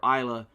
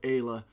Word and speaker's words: Aya: and specifically to her I called her Isa how you pronounce her name is Aya so sorry about that